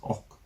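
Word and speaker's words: 억: to marry inquiry alone 100 million Korean won is pronounced as Oak in Korean which sounds like an interjection of a shocking expression that's why people say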